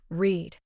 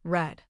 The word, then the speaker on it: read: it sounds like read. But in the past tense, "I read War and Peace last year." it sounds like red.